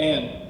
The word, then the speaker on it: Ayan: How do I say your name? Ayan? Ayan? Yeah yeah Ayan. Perfect pronunciation.